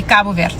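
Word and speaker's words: Cabo: Okay, so I'm going to say it my way. It's going to be Kabu.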